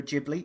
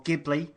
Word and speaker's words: Ghibli: I was watching Ponyo, whether you pronounce it Ghibli or Ghibli. Either way, don't care. Yeah, I say Ghibli as well, but I've been told it's Ghibli.